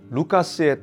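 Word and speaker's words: Λουκᾶς: 개신교인들이 많이 보는 국역성서에서 저자 이름을 누가라고 음역을 했지만 정확한 그리스어 발음은 루카스입니다 책의 제목 누가복음도 원문에는 루카스에 따른 복음 이렇게 되어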